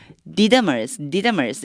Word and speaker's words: Didymus: 디두모. 디드머스 이렇게 발음 되거든요.